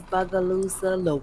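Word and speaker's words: Bogalusa: wow no he got he got killed in bugalusa did that pronounce that right out you know what i was laughing when you said it at first but yeah it's it's buggaloosa louisiana yeah he um i'll show you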